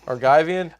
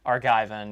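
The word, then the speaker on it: Argivian: Argavian? Argivan, yeah.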